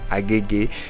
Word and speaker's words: Agege: It's at Agege. Yes, that's how we pronounce it here in Lagos. Agege.